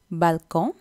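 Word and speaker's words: balcon: பொம்போன் தான் சொல்லணும் நெக்ஸ்ட் பல்கோன் பல்கோன் தான் பல்கனி அகேன் அந்த கடைசியில் வர என்னை நீங்கள் ப்ரொனவுன்ஸ் பண்ணக்கூடா பல்கோன்னு சொல்கிறதில் பல்கோன் தான் சொல்லணும் நெக்ஸ்ட் வந்து வாழைப்பழம் இதுவும்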